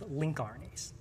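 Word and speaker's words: lncRNA: But on the other hand, there were these large numbers of transcripts which ultimately got named long non-coding RNAs, which I'll pronounce the abbreviation as link RNAs.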